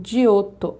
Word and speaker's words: Giotto: início da Renascença Olá pintor italiano né e eles pronunciam dioto um de outro é